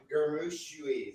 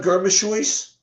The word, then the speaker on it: Germishuis: Leon Gamushuis. Oh God, Kenny. Give us a name we can pronounce.